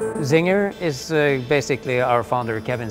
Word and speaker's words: Czinger: zinger is basically our founder Kevin singers last name so it is pronounced where is and he spelled where is